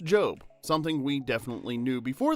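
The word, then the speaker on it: GOB: Lucille, failed magician brother go O, which is pronounced Job, something we definitely knew before the last video and absolutely didn't butcher while half the comment section lost their minds.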